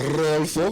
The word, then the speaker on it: Rodolfo: Did you roll the R's? Rodolfo. There you go.